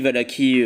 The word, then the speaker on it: Valachie: Valachie, Valaki, on prononce comment on veut.